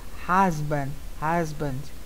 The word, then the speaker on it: husband: Husband. Tá? Esse U a gente pronuncia quase A. Eu estou exagerando aqui, tá?